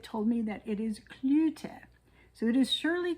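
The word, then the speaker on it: Cloete: And when I looked up the pronunciation on um Google, it told me that it is Clut. So it is Shirley Clute from South Africa.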